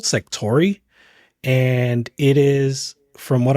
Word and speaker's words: Sektori: Sectori. It's spelled weird. It's Sektori, because I tried looking it up as SEC and I couldn't find it, but this game.